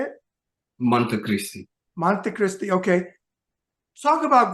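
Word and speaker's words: Monte Cristi: the age of 12 and you say it Monte Christi Dominican Republic is that how you say it Monte Christi Monte Christi okay talk about growing up there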